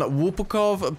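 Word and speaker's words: Łupków: This is pretty fancy stuff here on Lupkow Pass. I actually pronounced it right because I'm Polish, and before I actually pronounced it wrong I look like an even bigger idiot, but yeah.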